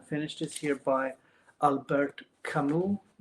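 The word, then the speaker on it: Camus: this year by Albert Camu. people say in English Albert Kami. I think that's the correct French pronunciation.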